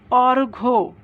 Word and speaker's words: অর্ঘ্য: পরের উদাহরণ দেখো, অর্ঘ্য। অর্ঘ্য, এখানে ঘয়ের একটা যুক্ত বর্ণ, তার সাথে জ ফলা আছে, আর প্রথমে অ, তাহলে অ পরিবর্তন হবে না।